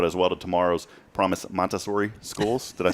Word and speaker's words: Montessori: And so a big shout out as well to tomorrow's Promise Montessori schools. Did I say that right? Montessori. Does it still have the Z? No, it has no Z.